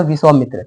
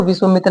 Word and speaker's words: विश्वामित्र: तो इसको विश्वमित्र नहीं विश्वामित्र ही बोला जाता है।